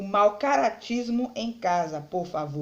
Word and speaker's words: por favor: é a sílaba tônica ficaria por favor lembre que o vô sai mais forte certo a lei a palavra por favor você vai observar que a sílaba tônica é a última é uma palavra oxítona certo a sílaba pronunciada